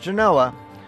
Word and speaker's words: Genoa: Nearby Minden and Gardnerville, historic Genoa, yes, here it's pronounced Genoa, was Nevada's first European settlement, although it was part of the Utah Territory at the time.